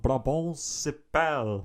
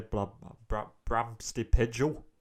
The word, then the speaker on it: Brabantse Pijl: So today we're talking about Brabantse Pijl, which is the most Belgian thing that I can say correctly. Yeah, please say it right, people. I used to say Brabantse Pijl.